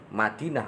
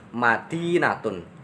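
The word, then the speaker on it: مدينة: Madinah atau kalau dibaca lengkap itu Madinatun, yang memiliki arti kota.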